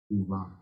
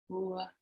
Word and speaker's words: uva: And U in Portuguese is pronounced like the end of the O, like quero, u, u.